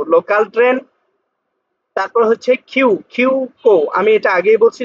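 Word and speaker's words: 急行: তারপর হচ্ছে কিউ কিউ কো, আমি এটা আগেই বলছি যখন এরকম এই যুক্ত বর্ণের সাথে উ থাকবে উর উচ্চারণটা উচ্চ থাকবে, তাহলে কি হলো কিউ কো।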